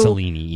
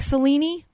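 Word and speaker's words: Selene: say it just okay i certainly don't think it's celine who do not know the spelling of this word i'm gonna tell it to you and then you can decide how you say it s e l e n e i mean it looks like celine does it does it look like cellini no it sure doesn't no i thought it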